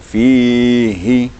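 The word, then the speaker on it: فيه: Kemudian pada huruf hi tadi, fihi, apabila ha terletak antara dua kasraten, maka ha itu akan jadi perhatian penuh gitu cara membacanya. Harus dijelaskan sekali bacaannya gitu. Fihi, agak dikuatkan sedikit karena dia berada antara dua kasrah. Dia bisa hilang dia kalau tidak dimaksimalkan bacaannya.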